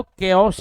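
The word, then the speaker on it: chaos: फिर उसका नहीं साक्षी, उसका जो सही प्रोनाउंसिएशन है वो केओस ही है, क बन जाता है वो क।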